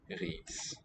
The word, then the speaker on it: ris: So for the catch in that vowel of rice, vi koger ris. Vi koger ris. So the sound is drifted quite a bit from what the spelling represents.